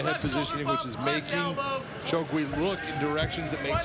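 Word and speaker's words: Şengül: It's spelled S-E-N-G-U-L, but the pronunciation is Shugui.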